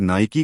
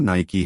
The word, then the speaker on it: Nike: बनाए गए हैं दोस्तों बहुत से लोग नायकी को नायके या नायक नाम से भी जानते हैं लेकिन इसका सही उच्चारण न्याय की है यह नाम यूनानी देवी